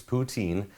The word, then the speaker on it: poutine: I practiced it all week, and you guys told me about 1,000,000 times how to pronounce it correctly. It's poutine, and it's the French